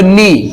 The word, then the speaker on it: know: আবার KNOW, এখানে যদি কে সাইলেন্ট করে তাহলে উচ্চারণ হবে নো। আমরা কিন্তু নো উচ্চারণ করি, কিন্তু সবসময় কিন্তু কে থাকেই যায়। কে কে নিয়ে যদি উচ্চারণ করি তাহলে কি হবে? কোনো, এরকম হয়ে যাবে উচ্চারণ। কে উচ্চারণ করে আসবে না, কিন্তু সেটা হবে না। ঠিক আছে, সাইলেন্ট হয়ে যাবে, নো।